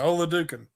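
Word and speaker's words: Oladokun: am i correct shannon chris olodukin although do i think that's how you say it yeah ola duken yeah so there you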